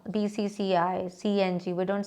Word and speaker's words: BCCI: Like we cannot say Becky, no, BCCI, CNG, we don't say Singe, no, CNG.